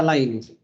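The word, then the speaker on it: Leibniz: Del activismo y fanatismo, pero es también el tiempo de los grandes sistemas de Laines, se pronuncia Laines.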